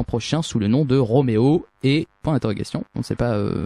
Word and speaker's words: Roméo et: sous le nom de Roméo et point d'interrogation on sait pas c'est comment ça se prononce c'est Roméo e ou Romo e Roméo e donc je vais juste